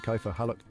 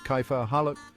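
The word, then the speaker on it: كيف حالك: The K sound in Arabic is pronounced further back in the throat than in English.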